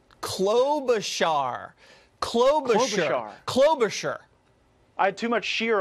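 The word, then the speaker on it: Klobuchar: globe clover shower clothes char clove the chadar clover sure I had too much shear on the char yeah too much shear okay clover sure that no one's gonna ever get that name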